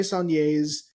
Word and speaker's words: Saulnier: Jeremy Saulnier's revenge film Blue Ruin.